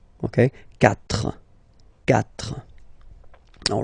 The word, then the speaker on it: quatre: Final s not pronounced. Trois. Quatre.